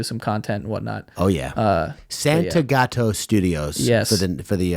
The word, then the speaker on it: Santagato: what's your last name I'm like Santa gato and he goes Santiago how do you spell